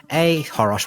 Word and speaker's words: achoros: In front of my drum kit, while I'm waiting for songs to load, or on Threads at Ahorosh, which is ACHOROS. The C is silent.